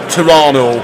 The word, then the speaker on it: Toronto: I went to a place called Kitchener, near Toronto, or Toronto, as they say. They don't pronounce the second T.